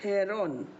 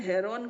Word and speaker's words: Heron: हम जब पढ़ते थे ना तो हम इसको हीरो बोलते थे, ऐसा नहीं कि मजाक में, ये एन साइलेंट होता था, एन को प्रोनाउंस नहीं करते थे। लेकिन अब जो न्यू बुक्स आ रही हैं उसमें हेरोन करके दे रहे हैं, है ना। तो अभी हम इनको हेरोन फार्मूला बोलेंगे, ओके।